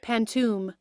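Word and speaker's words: pantoum: poetry known as a pantum at least that's how I'm pronouncing it I'll put on screen Google pronouncing it pantum uh uh the large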